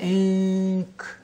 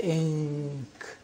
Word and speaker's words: ink: I-N, you say in. The N is pronounced from behind the teeth, ridge, say in. But we say ink.